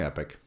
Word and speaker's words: epoch: it's like epic vers Epoch nope it's definitely epic that is the actual but people do pronounce it Epoch Epoch really absolutely there's no o Epoch it